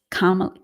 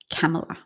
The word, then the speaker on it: Kamala: Did I mispronounce Kamala? Kamala.